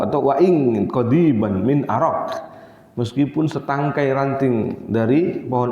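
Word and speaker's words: أراك: Ini terjemahkannya enaknya harusnya pakai O aja ya, jangan A. Nanti bacanya salah orang. Araq, ya. Salah baca nanti dikira ada pohon arak.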